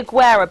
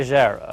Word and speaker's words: Agera: I say Aguera, but the correct pronunciation, I believe, is... I say Agera. Agera.